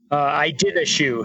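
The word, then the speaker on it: Iditashoe: Edita shoe? Is that how you say it? I did a shoe. Oh, okay. Yeah, I've always seen that. I've never known how to say it. It's like the Iditarod sled dog race, but it's, you know, snowshoeing or running.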